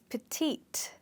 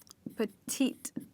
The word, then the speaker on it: petite: The next one we have is petite. That's how we pronounce this word. Puh-Teet.